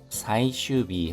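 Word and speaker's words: 最終日: 산랭큐 사이슈비 하면 사이슈가 최종입니다. 최종 사이슈인데 B로 발음이 바뀌었습니다. 사이슈비너 와 최종일인 효은 겨와 히로이 하면은 넓다입니다.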